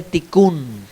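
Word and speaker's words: תיקון: esa palabra de corrección en hebreo se dice ticun Cómo se dice ticun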